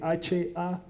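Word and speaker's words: היה: Se escribe H-A-Y-A-H, haya, y eso significa ser o existir.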